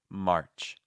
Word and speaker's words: March: Or if you're saying March, well, that's a sign that you have no R, so we want to make that R just a little more present. March.